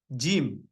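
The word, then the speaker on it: جيم: so the gim just just like pronounce the gim uh I'm going to the Jim in English that's how you pronounce the Jim alphabet Jim Jim Jim Jim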